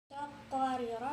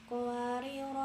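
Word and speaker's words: قواريرا: Yang pertama, apabila diwaqafkan pada ro yang pertama, maka ro yang pertama tetap dibaca panjang, sedangkan ro yang kedua dibaca pendek.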